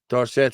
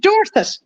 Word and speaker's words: Dorset: gone ridiculous hey Paul how how are you pronouncing the second word there which one which one the second one fibb Dorset Street blanch Dublin 15 NCR it's Dorset is it not just Dorset where are you